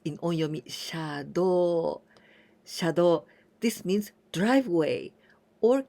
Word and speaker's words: 車道: So, 車道, we pronounce in onyomi, 車道.